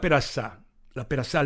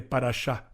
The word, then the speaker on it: Parashá: Dice la Perasá Lech Lecha, repaso, Perasá, pronunciación incorrecta de Parashá, capítulo de la Torá.